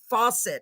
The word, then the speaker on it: Fawcett: me welcome Mr Fawcett and I did I it is literally pronounced like faucet right yes ma'am